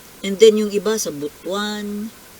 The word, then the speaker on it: Butuan: then yung iba sa butwan yan ang pronunciation po ng Butuan City hindi Butuan ha butwan Tapos sa Davao marami